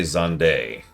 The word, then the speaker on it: Zande: They have said Zan's name once ever. In Endwalker, specifically. In FF14. And they do say Zande.